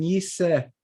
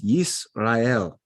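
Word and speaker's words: ישראל: Now, why are we not saying Yiseh Yisrael. You could, I suppose, but that little double dot there can also be silent, and it can be just separating things. So it's Yisrael.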